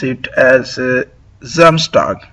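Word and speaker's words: Samstag: uh clarify that uh in Deutsch uh S is called as Z and Z is pronounced as S. So uh we will pronounce it as uh Zamstag not Sam.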